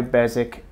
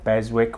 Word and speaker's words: Beswick: Now most of these are, if not all, are produced by Beswick, or Beswick, whichever way you want to pronounce it.